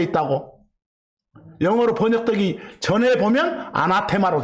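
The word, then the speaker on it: ἀνάθεμα: 뭐 영어식으로 읽으면 어네시머라고 읽습니다만, 그냥 올레식으로 아람어식으로 아나테마 그랬어.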